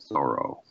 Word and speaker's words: Thoreau: is that is that until the last 10 years or so everybody said Thoreau Henry David Thoreau okay and and and